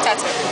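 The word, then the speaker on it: t.A.T.u.: she said by tattoo or how you pronounce her name it's tattoo but i wanted something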